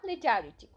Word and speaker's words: legerity: हर एक मूवमेंट में तो इसकी स्पेलिंग है एल ई जी ई आर आई टी वाई लेकिन इसका प्रोनंसिएशन जो है वो होगा लिटरिंग नेक्स्ट जो है हमारा वर्ड